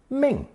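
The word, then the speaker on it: 命: move on to that other variation of Ling pronounced Ming the two of which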